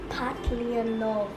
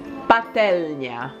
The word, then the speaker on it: patelnia: Okay, next one is, the first one is frying pan, which is patlianowa. Patelnia.